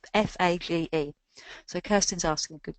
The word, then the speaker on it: FAGE: But there is one yogurt called FATS, which I get told off from pronouncing incorrectly, that's got protein and it's full of good bacteria as well. So it's FAGE.